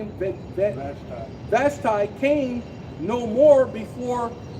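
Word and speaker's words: Vashti: Bashti.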